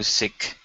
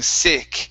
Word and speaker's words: seek: okay hide and go seek one more time you're saying sick instead of say seek seek good good okay and